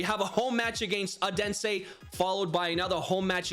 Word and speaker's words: Odense: You guys all butchered me in the comments saying I don't say Odense properly. Is it Odense? Odense? I think it's Odense.